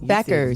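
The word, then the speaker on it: Bueckers: said BQ. It's Beckers.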